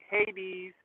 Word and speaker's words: Hades: You don't say it like we do Hades. You say it Hade.